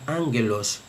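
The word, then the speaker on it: ἄγγελος: Con relación a la gamma, en la pronunciación erasmiana siempre tiene la gamma el valor de la g española como en gato. Siempre. No importa la vocal que le siga. Por ejemplo, esta palabra en la pronunciación que es mujer se leería guiné. Guiné. Y esta palabra se leería ángelos.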